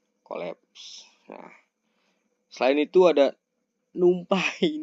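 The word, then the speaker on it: NumPy: Nah, selain itu ada numpai numpi gitu ya bacanya numpi.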